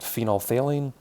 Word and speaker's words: phenolphthalein: It's actually not colored in a low pH, but once you hit a basic pH, phenolphthalein, spelled like phenol, and then PHTHALEIN, goes to a nice pink color once you hit a fairly basic pH.